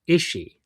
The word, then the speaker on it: Ishii: It's a long E, but it's just Ishii. Like you don't like pronounce another E sound. You know what I'm trying to say? Like you don't start another. It's like just holding the E.